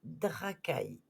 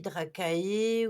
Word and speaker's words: Dracae: Ça s'écrit Dracae. Donc ça se dit Dracae ou Draca. Ça, c'est à voir si ça se dit en anglais ou si le A se dit.